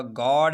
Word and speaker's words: guard: आगे चलिए, अगर किसी लफ्ज़ में यू के बाद EA आता है तो यू हमेशा साइलेंट होगा। गॉड है, GUARD गॉड है।